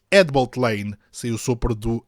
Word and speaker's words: Headbolt Lane: da nossa Rede Ferroviária escreve-se head Bolt Lane mas pronuncia-se hbt Lane saiu sopra do H